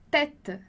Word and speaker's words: tête: E aí você já sabe, então, que o E a gente vai pronunciar com o som de E, porque tem um acento circunflexo ali em cima. Então, a gente vai dizer tête, tête.